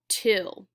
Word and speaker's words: two: The W and the O are not making the right sounds in 2. So we need to remember that we spell it T-W-O.